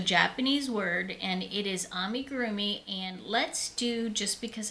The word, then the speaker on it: amigurumi: Amigurumi. Amigurumi. Amigurroomi. So I kind of soften the gur part and just say ami gurroomi.